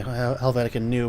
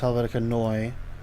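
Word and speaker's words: Helvetica Neue: the typeface well which some people say Helvetica new but it's pronounced Helvetica Noi at least that's what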